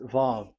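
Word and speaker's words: ו: So the word, the shape Vav is really pronounced V, like Vogue. That is it, pronunciation. So here in this side, it's pronunciation. This is pronunciation. So according to the old Hebrew word today, those who, the owner of the words, I mean, so it's a V. So don't change it into W.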